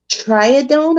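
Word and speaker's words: Tridione: put the medication narratives triadon i believe is how you pronounce it t-r-i-d-i-o-n-e it's also the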